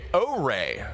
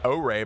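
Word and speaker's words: Oure: And that was a first look at O-Ray. O-Ray, by the way, is how that's pronounced, if you were wondering.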